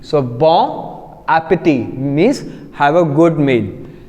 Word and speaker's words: appétit: Again if you see appétit, the ending is t, so we are not going to pronounce t out here because it's a consonant again, so we are going to pronounce till I, that is appétit.